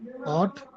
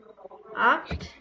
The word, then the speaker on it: acht: V வந்து F pronounce பண்ணும். Where? Fear ரெண்டா? No, ma'am. Art. Okay, fear. Swine. Zwei. Swine. Zwei. Art. Acht.